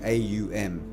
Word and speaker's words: Om: all it's really fascinating om is actually AUM oh it's three syllables okay ah uh and um they're three vibrations okay the ah if you